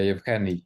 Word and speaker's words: Yevhenii: Yeah, Yevhenii.